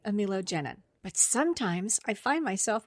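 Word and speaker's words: amelogenin: So now I pronounce it correctly, amilogenin.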